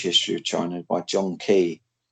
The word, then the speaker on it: Keay: I recommend a huge history of China by John Key. It's called China. John Like Key. That's spelled Keay.